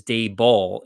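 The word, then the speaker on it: Daboll: his date because it's dave ball is how you say his name so i know but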